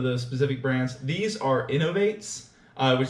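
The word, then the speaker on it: Inov-8: These are Innovates, which is spelled I-N-O-V, and then the number 8.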